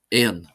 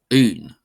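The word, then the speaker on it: aon: And in other dialects, one may hear something like Ain, but I pronounce it Un, which is closer to the original, of course, spelling. That's why it's spelt like that, AO, because that was originally an I sound.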